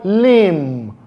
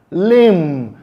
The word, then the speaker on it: limb: The next word, we have the word limb, limb. The B sound there is silent.